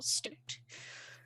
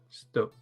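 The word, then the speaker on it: stoat: russia um um and so i think it's pronounced i think it's pronounced uh stoke s-t-o-a-t yeah stop s-t-o i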